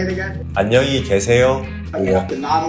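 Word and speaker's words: 안녕히 계세요: Ahn-nyung-hee gye-se-yo You have to nod a little? Yeah, Ahn-nyung-hee gye-se-yo Thanks, buddy.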